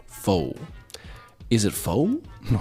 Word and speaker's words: pho: So, fo, as we lovingly call it in English speaking Canada, is a Vietnamese soup, noodle soup dish.